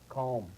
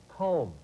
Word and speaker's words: Colm: hold your thought uh c-o-l-m but pronounced calm calm yeah that's uh and